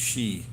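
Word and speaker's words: 四: numbers is four because four in china and japan is pronounced she and she means death number nine is also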